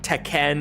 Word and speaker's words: Tekken: other fighting games and everyone clowned on her for saying it like that and I mean that is the correct pronunciation like if you're actually speaking Japanese but no one speaking English ever pronounces it like that it caught